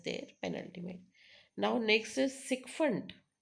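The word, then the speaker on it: sycophant: penultimate now next is sikfundant it's not psychopant it's sundant so how to remember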